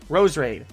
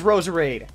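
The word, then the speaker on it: Roserade: Rosarita or those raid rows raid so there's no extra are now how everyone says Rosa raid mismo geus combination of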